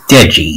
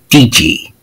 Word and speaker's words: Deji: duchy's name wrong yeah i said deji it is pronounced deji not dg that is going to